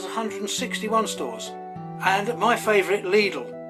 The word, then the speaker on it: Lidl: And my favorite, Lidle. Note the pronunciation, not Little as it is in the UK, but Lidle, which is the other German retailer.